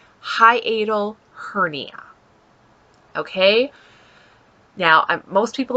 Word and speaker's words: hiatal: that i have a hatial no that's not right hiatl that's how you say it hiatal hernia okay now most